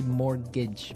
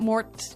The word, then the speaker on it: mortgage: with a t yeah it has a t in it but you don't pronounce it you say morgage morage so not Mort morgage not morgage morgage